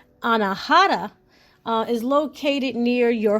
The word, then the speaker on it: anahata: Next chakra, which would be the heart chakra, which is pronounced anahata, uh, is located near your heart, of course, right?